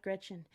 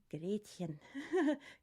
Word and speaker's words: Gretchen: But as an English speaker, you see the title of that song and you think Gretchen. But I always remember the voice teacher saying, not Gretchen, Gretchen, Gretchen.